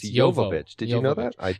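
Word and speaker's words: Jovovich: because I was like how do you actually pronounce her name it's it's yovich did you know that I I think I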